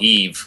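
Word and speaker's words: EEVE: head is Wally Eve is that how you say it double e v e yeah it's just called Eve with two e's at the start so Eve well so what is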